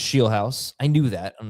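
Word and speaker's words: Scheelhaase: Jamie, it's pronounced Sheelhouse. I knew that. I don't know why I didn't say it. Sheelhouse.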